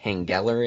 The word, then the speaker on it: Henggeler: I've been saying Henggeler in my mind for a little That while. no, that's right.